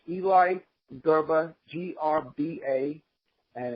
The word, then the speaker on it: Grba: baseball's fallen angel and the name is Eli garba but it's spelled G rd anyone anyone who wants